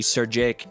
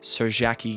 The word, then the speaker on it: Serjake: The name is actually Serjake Games. And I was about to say Serjaki Games because I thought it was a name that I couldn't pronounce. But it's actually all one word, Serjake Games.